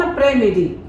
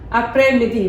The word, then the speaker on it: après-midi: Bon après-midi. This S is silent.